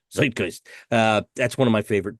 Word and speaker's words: Zeitgeist: of my favorite records, but I never say Zeitgeist if I'm saying it right. I think you're saying it right. Zeitgeist.